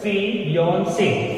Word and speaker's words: fiancé: Correct pronunciation of this word, fiancé, fiancé.